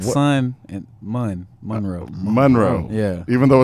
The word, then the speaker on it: Monroe: Like what- sun and Monroe. Monroe. Yeah. Even though it's spelled M-O-N, it's Yeah.